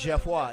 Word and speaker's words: Geoffroy: No, it's Jeff Watt. It's called French Persuasion. You know Creole.